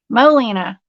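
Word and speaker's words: Molena: So Molina, yes, that's how I pronounce it.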